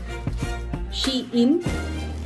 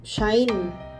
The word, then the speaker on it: SHEIN: Pero ang sabi, ang dati, yung pagkaka-pronounce ko sa kanya dati, Shein. Siyempre, ang mommy vlogger, nag-research how to pronounce Shein. Yung pala, Shine. Shine pala ang tamang pronunciation niya.